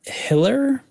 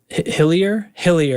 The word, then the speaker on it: Hillier: Anthony Mills, Richard Hiller. Yeah. Hillier, you're right.